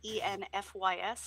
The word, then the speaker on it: Enfys: in Tennessee it's so well actually enfys it's pronounced kind of with a V though and this it